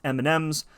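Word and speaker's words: EMNMZ: today we're taking on e-m-n-m-z which i think is pronounced m m's my team today is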